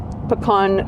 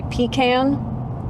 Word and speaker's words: pecan: question do you say pean I say pecan how do you say it uh it depends if I'm in Canada I say pecan and if I'm in the states I say pean fear more of a